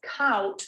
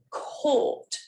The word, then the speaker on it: caught: is caught caught again a lot of students pronounce this as couch because they're getting influenced by a spelling once again caught just one vowel sound chords another one